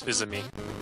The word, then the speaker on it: Fils-Aimé: Yeah, well, that's how you say his name is Fils-Aimé.